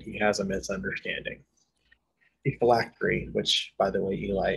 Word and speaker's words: phylactery: The phylactery, which, by the way, Eli, is the proper pronunciation, is a tool that's used to allow you to transfigure your soul.